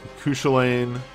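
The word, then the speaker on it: Cú Chulainn: doing them mostly submission it's pronounced cushy lane or more cuca lane it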